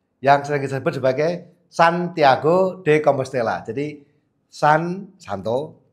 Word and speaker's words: Santiago: Yakobus yang sering kita sebut sebagai Santiago de Compostela. Jadi San Santo Thiago ya orang Spanyol bacanya Thiago.